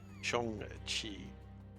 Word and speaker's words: Shang-Chi: Shang-Chi. Pronounce it correctly.